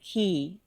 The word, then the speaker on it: quay: It's spelled Q U A Y, but you say it key just like the word key to unlock something. K E Y.